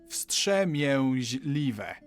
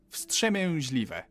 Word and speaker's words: wstrzemięźliwe: W, s, t, ż, e, m, i, ę, ź, l, i, w, e. Wstrzemięźliwe. Wstrzemięźliwe.